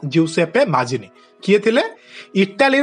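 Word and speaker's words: Giuseppe Mazzini: रखिबो जिउसेप्पे माजिनी हला स्पेलिंग भी देखिबो GIU जिउसेप्पे pronounce भी एमिति हबो जिउसेप्पे माजिनी किए थिले इटाली रो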